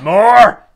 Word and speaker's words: Mor: That's how you pronounce that. No. Okay. It's well. More!